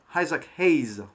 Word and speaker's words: Isaac Hayes: Isaac Hayes, on va bien prononcer le nom à l'anglaise.